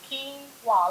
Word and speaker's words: quinoa: and my favorite we're going to talk about quinoa products this is a perfect protein a quinoa is pronounced quinoa a lot of people pronounce it a lot of different ways but quinoa is a relative of spinach and beans and